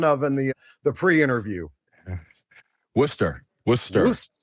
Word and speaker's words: Worcester: Worcester. Worcester. Woosta. Woosta.